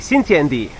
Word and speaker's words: Xintiandi: Xintiandi.